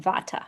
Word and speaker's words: vata: We pronounce it vata here in the West.